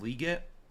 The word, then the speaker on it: Legette: Legette let's go with Legette I know it's like it's actually pronounced liette correct I've had a hard